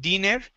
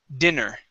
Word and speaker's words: dinner: next word is dinner okay short i sound instead of diner dinner dinner excellent okay good